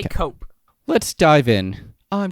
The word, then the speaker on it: Koepp: Just because there's so many things that David Cope gets out of James Cameron's Spider-Man and he actually puts into Sam Raimi's movie.